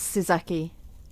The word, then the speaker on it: Sizaki: Yeah, like. And the full name's Sizaki.